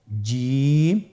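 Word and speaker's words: جيم: চেষ্টা করুন হয়ে যাবে এর মাখরাজ হলো জিহ্বার মধ্যখান তার বরাবর উপরের তালুর সঙ্গে লাগিয়ে উচ্চারিত হয় আপনারা পিকচারে ছবিতে দেখতে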